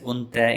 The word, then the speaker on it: undu da: Undu plus du plus a, undu da. It's pronounced as unta in spoken Tulu.